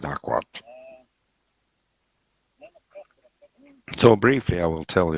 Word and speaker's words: AQL: optimization of curies a english abbreviation is not pronounceable aql we call it aquat so briefly i will